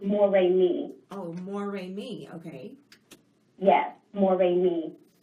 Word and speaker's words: Moremi: Yes, but it's pronounced Moremi.